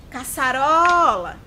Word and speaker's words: caçarola: Caçarola. Caçarola. Perceberam que o ró é a sílaba que ficou mais prolongada? Então, ela é a sílaba tônica.